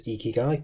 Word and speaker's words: Ikigai: a change it is ikigai because that's how they actually spell it phonetically on their website thankfully which is very